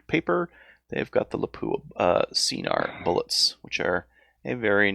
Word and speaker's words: Scenar: Scenar. eh? It's pronounced Yeah.